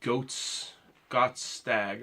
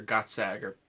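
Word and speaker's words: Gokstad: she wants a Viking style bed in the goats got stag or got sagar how we pronounce it style so I've been doing a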